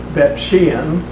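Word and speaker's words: Beit She'an: And one that's rather significant, because you can go see it, is in Beth Shan, or Bet Shean. The town is pronounced over there.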